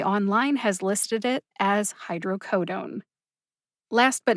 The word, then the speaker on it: hydrocodone: dictionary online which is a subscription-based resource the pronunciation of hydrocodone is hydrocodone i'm pretty sure you would recognize it either way that tony said it but officially again the usp dictionary online has listed it as hydrocodone last but not least i really appreciate the